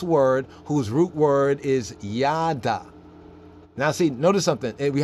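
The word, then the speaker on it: יד: demonitive right denominator from yad you know what yaddas yad or yard yard means a hand that's why it says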